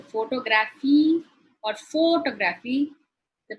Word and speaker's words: photography: If I say photography or photography, the pronunciation changes.